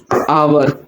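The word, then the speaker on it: our: ठीक, अब इसमें फर्स्ट पर्सन के प्रभाव में हम क्या यूज करेंगे, आवर। आवर कौन सा, आर वाला, इसे प्रोनाउंस आर करते हैं, आवर बता रहा हूं बस।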